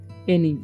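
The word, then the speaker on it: any: ड ठीक है एंजॉयड एनी इसे पढ़ेंगे हम लोग एनी एनाई नहीं पढ़ना है इसे पढ़ेंगे लंगर देखिए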